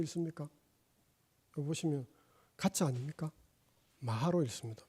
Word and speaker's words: 마하: 마가로 되어 있습니다. 그런데 우리는 읽을 때 어찌 읽습니까? 여기 보시면 가짜 아닙니까? 마하로 읽습니다. 왜? 음사인 거 아닙니까? 산스크리트 발음대로 한 겁니다.